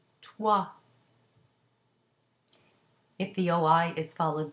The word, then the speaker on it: toi: OI is pronounced wa, as in toi.